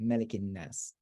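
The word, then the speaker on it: مَلِكِ النَّاس: case, in Surah Nas, it's always pronounced Malikin Nas with a short vowel indicating ruler of the Day of Judgment.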